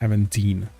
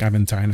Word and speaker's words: Aventine: I mean, I didn't name myself Aventine or Aventine, depending on who says it. I have heard both sides, but the proper pronunciation is Aventine. But I do like Aventine as well.